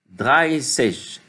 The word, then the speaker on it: dreißig: Il y a le SZ, le fameux bêta, et ça se prononce dreißig, dreißig.